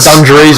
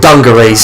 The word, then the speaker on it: dungarees: They got like fucking dungarees on, what they're called. Dungarees. Dungarees. It's a soft G. No, it's a hard G rather.